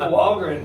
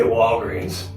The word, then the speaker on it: Wallgren: Wallgren, man. It's a short E for the... Yeah, dude. Yeah. I was always like, I always want to say Walgreens.